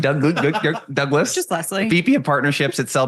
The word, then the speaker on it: Douglas: Douglas.